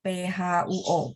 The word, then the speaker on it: 坡: Ya, kalau PO bacanya gini, PHUO. Nanti jadi nadanya bagus ya, pronunciation bagus. Iya, Singapura. Cara bacanya begitu ya, tapi tulisannya ada PO saja.